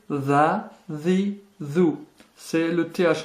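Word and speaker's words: ث: Première difficulté, le tha. C'est un S très léger que vous prononcez en sortant légèrement la langue.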